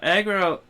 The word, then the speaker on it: Agro: can't come on now Agro Agro is how you is how you pronounce it but I will say